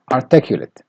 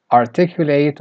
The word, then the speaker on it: articulate: Next word is articulate or articulate. So it has two pronunciations. You can either say articulate or articulate, and also functions as a verb and an adjective.